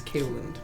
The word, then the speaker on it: Kaeland: I thought it was Keeland for a while, but it's Kaeland.